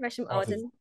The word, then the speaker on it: Resham Ahdan: Arden's fine, Resham Arden. Resham Ahdan. It's quite posh, actually, isn't it? Do you know what I mean? It's very posh. It's like Elizabeth Arden, but Resham Arden.